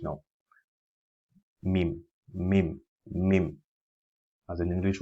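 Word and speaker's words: م: Then we have this called mim, using we pronounce mim by closing the two lips together with a gunnar sound. A gunnar sound is when we try to make a sound come out through the nasal passage now.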